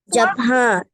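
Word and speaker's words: Japanese: যুক্ত করা হয়েছে আমি এটা উচ্চারণ করুন ওহী উচ্চারণ করো দেখি জাপান এখানে কিন্তু জাপান না ডাবল ই যুক্ত আছে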